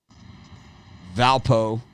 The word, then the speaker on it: Valpo: gardner-webb vmi versus furman valpo rhymes with alpo up against boy loriola